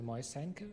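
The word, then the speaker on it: Moiseienko: good afternoon i'm moysenko and this was one of the better attempts at the pronunciation of my name so thanks for that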